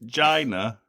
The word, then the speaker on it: Geena: No, it is Gina. But then that most people who are called Gina do actually spell it with an I, don't they?